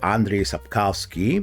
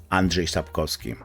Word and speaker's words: Andrzej Sapkowski: and serame uh all around the world it's pronounced Andre sapkowski but in Polish native speaker would say Andre sapkowski and he said couple of very interesting things